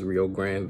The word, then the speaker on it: Rio Grande: That's how you say it, Texas Rio Grande Valley.